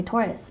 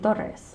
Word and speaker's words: Torres: last name correctly so i didn't grow up pronouncing my last name correctly i always say taurus but it's supposed to be doris and i just remember